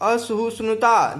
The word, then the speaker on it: असहिष्णुता: सही उच्चारण करो, असहिष्णुता। जब तक तुम तालब स्व, मूर्धन्य स्व और दंत स्व में अंतर नहीं समझोगे तुम्हें तब तक बुद्धिजीवी कहलाने का कोई हक नहीं है।